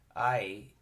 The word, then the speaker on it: Ai: but the Duke of I which is spelled a I and it was at